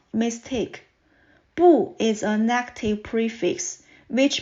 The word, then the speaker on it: 不: before the fourth tone word it should be pronounced as boo here are some examples next let's look at